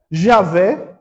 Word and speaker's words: Javé: Javé.